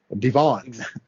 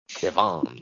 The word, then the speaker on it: Devon: I put the emphasis on the wrong syllable. You turned him into a Frenchman, Devon. Devon.